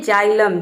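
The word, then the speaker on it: xylem: Next example है जाइलम। जाइलम में भी देखिए शुरू में एक्स आया है और यहाँ पे एक्स को हम ज प्रोनाउंस करें।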